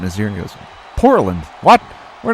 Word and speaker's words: Portland: when they when touchdown in the port of land it's Portland Ricky that's how you pronounce it uh but yeah that